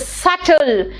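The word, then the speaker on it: subtle: silent है है ना this is नॉट सबटल इट इज सटल यानी नॉट नोटिस अगर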